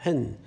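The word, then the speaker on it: ἕν: 한 글자예요. 헨. 물론 스펠은 한 글자가 아니지만 이제 발음은 한 글자예요.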